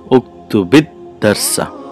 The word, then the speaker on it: uktubid darsa: So then we have here iltiqa'i sakinaini, the clashing of the sukoons. So in this scenario, what we got to do to pronounce it, to be able to pronounce it, the sukoon on the ba or the sukoon on the lam kalima of the fa'al is turned into a kasra. So how do you say? Uktubid darsa.